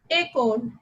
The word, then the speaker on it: école: Means E with an accent aigu will be pronounced as A. For example, école.